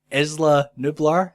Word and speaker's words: Isla Nublar: So our synopsis goes as follows: a volcanic eruption threatens the remaining dinosaurs on the island of Isla Nublar. That's how they pronounce it in the film.